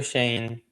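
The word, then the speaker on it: Schoen: Um, having the authority to kind of go over is it is it Joe Shoen? Is that how you say his name? Uh, Joe Shane.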